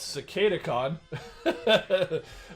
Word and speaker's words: Cicadacon: beast wars silverbolt and cicada khan for anybody who has trouble pronouncing it streaker wasn't it's cicada khan are joining the ranks